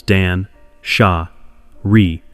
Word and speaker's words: Danshari: Dan Shari Hideo Yamashita named it in 2009, and since then, the three syllables Dan, sha, re have become like a small compass in your pocket.